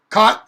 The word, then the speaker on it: caught: i really accentuated that caught not my normal pronunciation caught caught c-a-u-g-h-t sounds like c-o-t okay the the sound